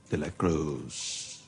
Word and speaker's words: De La Cruz: for an ancient warrior to ask yeah more De La Cruz did I say it right yes one's me